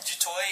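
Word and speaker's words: Du Toit: Well, Dutoy in French would say Dutoy, and it means from the roof.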